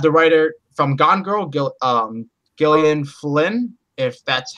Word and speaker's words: Gillian Flynn: We also have the writer from Gone Girl, Gillian Flynn, if that's how you say it.